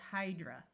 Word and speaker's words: hydra: Notice that A at the end of a word usually schwas to a muffled sound. That's why it's hydra.